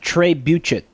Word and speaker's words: trebuchet: ] basically that's mike it's pronounced trey buchet my bad i'm actually